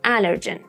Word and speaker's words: allergen: Pepper is an allergen for her. Pronunciation point. Allergic starts with a schwa sound. Then allergy and allergen start with an a sound. Allergy. Allergen.